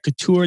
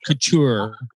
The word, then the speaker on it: couture: Couture, not couture.